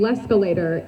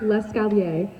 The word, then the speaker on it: l'escalier: When learning how to say stairs in French, Joey kept saying l'escalator instead of the correct l'escalier.